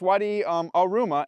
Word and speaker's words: Wadi Aruma: Even when we asked some locals, because we didn't know if we were pronouncing the name of the wadi right, they said, yeah, it's Wadi Aruma, and it runs from